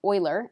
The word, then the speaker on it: Euler: Then Leonhard Euler, and when you see this word that looks like Euler, that's Euler, and he's pretty famous, so you want to get used to saying it right, defined the imaginary unit